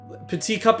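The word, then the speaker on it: Petit: heading back into Stadium mode to take on p cup and yes it's pronounced that way because it's the French word peti which means small peti cup is stupid you'll see see you guys then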